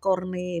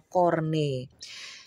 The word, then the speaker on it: Corne: Karena ini si Edward Corney ini jadi bukan corn ya, bukan jagung. Banyak banget tuh yang ngomongnya Edward Corn, emangnya Edward jagung. Edward Corney, bacanya Corney.